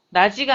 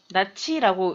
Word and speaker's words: 낯이: 또 내 스스로 화끈 낯이 불도록 부끄러울 적이며 이런 거 단어 읽을 때 주의를 좀 하셔야 되겠죠? 나지가 아니라 나치라고 읽으셔야 됩니다.